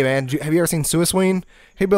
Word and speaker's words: Suicune: you have right like I still call suicune from Pokemon sometimes suing just because that's how pronounced when I was like 11 whatever gold and silver